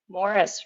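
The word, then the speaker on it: Maurice River: Morris Morris River is actually how you pronounce that.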